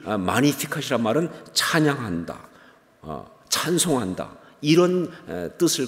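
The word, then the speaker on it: Magnificat: 그런데 이게 라틴어로 바로 마니피캇이라고 하는 말입니다. 마니피캇. 영어로 말하면 매그니피켓 이렇게 말하죠. 좀 스펠링이 다르니까. 근데 라틴어로는 마니피캇. 캐톨릭에서도 지금도 마니피캇. 그리고 영어로 말하면 매그니피켓 이렇게 말합니다.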